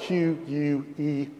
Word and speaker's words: Quelle: the first letter in the German word spelled Q-U-E-L-L-E, and pronounced, as well as I can tell, not speaking German, Quelle, which means source.